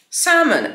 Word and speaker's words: salmon: Salmon. Nieme L.